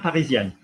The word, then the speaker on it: parisienne: Parisien, parisienne. A collection. We're going to pronounce the N hard because we've got the double N and the E.